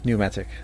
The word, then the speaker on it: pneumatic: Yeah, pneumatic. The P is silent.